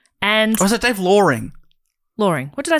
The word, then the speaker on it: Loring: And Or is it Dave Loring? Loring. What did I say? Loring? Loring. Oh, sorry, Dave. Just because it rhymes with boring, and that's his little his explanation.